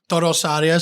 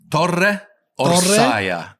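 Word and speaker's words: Torre Orsaia: minutes from my town, Toro Osaria. So Torre Orsaya, Tower of the Bears. Exactly, Toro Osaria. Orsaya. I never know how to say it. Okay, I'll say. Listen, watch my lips. Torre Orsaya.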